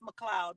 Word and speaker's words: McLeod: It's pronounced McLeod, but it's spelled McLeod.